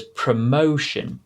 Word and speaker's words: promotion: and so i think the really difficult one there was promotion because the is the second o that has the long o sound not the first one okay let's have a